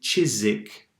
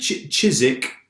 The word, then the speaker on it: Chiswick: Okay, and Chiswick, we don't pronounce the W.